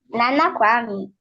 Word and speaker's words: Kwame: Nana Kwame.